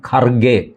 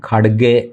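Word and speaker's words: Kharge: പറയേണ്ടത് കേട എന്നാണ് അതുപോലെയാണ് മല്ലികാർജുൻ കർഗെ എന്ന് നമ്മൾ പറയുന്നത് മല്ലികാർജുൻ ഖഡഗെ എന്നാണ് ഈ ആറും എച്ും ചേർന്നു കഴിഞ്ഞാൽ ഡ എന്ന് ഉച്ചരിക്കുന്നത് ഉത്തരേന്ത്യൻ സ്വഭാവമാണ് അതിന്റെ ലോജിക് ഒക്കെ വേറെ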